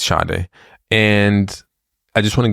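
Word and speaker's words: Sade: d e it's it's people say shade but it's not say every everybody keeps saying s oh yeah who's s it's not s yeah but I feel like they should spell it differently yeah it's shade and I just want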